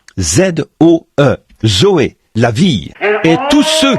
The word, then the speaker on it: zoé: Et en grec, pour dire la vie de Dieu ou la vie éternelle, on se sert du même mot que l'on prononce, Zoé, Z-O-E, Zoé, la vie.